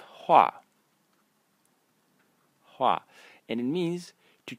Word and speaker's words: 花: so on um the first character um is pronounced ha and is it means flower and it is